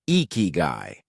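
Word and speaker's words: ikigai: The Japanese call it, pronounced eeky.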